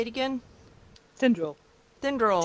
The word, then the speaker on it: Tinderal: Tinderal. Tinderal. Tin.